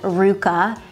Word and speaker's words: RVCA: is by the brand Ruka you're gonna see the letters RVCA that's how you may think you pronounce it but it's actually pronounced Ruka and Ruka collaborated with